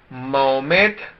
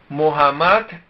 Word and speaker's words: Muhammad: de 360 ídolos 2 mohamed mohamed muhammad es la pronunciación original mohamed nació en la